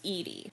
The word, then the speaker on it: Edie: Now, there is a potential, back in the 50s, there was a name, Edie, and that was pronounced Edie.